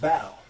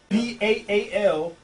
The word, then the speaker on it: Baal: Because they was cutting themselves all up in order to worship this guy named Baal. B-A-A-L, or either it's spelled B-E-L.